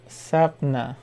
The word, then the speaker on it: Sapna: oh thank you and it's pronounced uh as sapna okay sapna no sorry